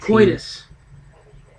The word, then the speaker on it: coitus: Coitus. Sex. Oh boy. The intercourse. I wasn't sure how to I pronounce believe it. that's how you pronounce it, coitus.